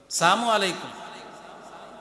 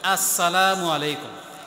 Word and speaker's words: আসসালামু আলাইকুম: মধ্যে ভুল উচ্চারণ সালাম আলাইকুম সালাম আলাইকুম এভাবে উচ্চারণ করে সামু আলাইকুম মানে তোমার মৃত্যু হোক সামু আলাই মানে কি তুই মর দোয়া করতেছে মরার এই জন্য শুদ্ধ সালাম দিতে হবে উচ্চারণ যেন শুদ্ধ হয় আসসালামু আলাইকুম আসসালামু আলাইকুম তো সালামটা কতটুকু হবে সেটাও কোরআনে